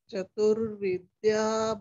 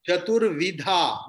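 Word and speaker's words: चतुर्विधा: Chaturvidya bhajate mam. Chaturvidha, not Vidya.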